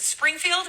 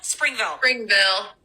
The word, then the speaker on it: Springville: Is it Springfield? Springville.